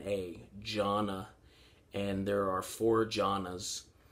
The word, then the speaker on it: jhana: the suttas is this thing called jhana uh that's spelled j h a n a gianna and there are four jhanas and what the